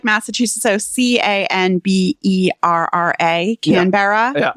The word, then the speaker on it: Canberra: So Canberra. Canberra. Yeah. No, it's not Canberra. It's Canberra. Canberra.